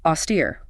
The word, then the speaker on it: austere: Then we have austere. Austere. Stress on the second syllable with a long E sound.